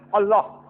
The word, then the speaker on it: Allah: The right pronunciation is Allah.